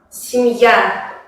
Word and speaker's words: семья: Y, ya, E se pronuncian como I en la posición átona. Por ejemplo, en la palabra семья, Y es átona, por eso se pronuncia más como I.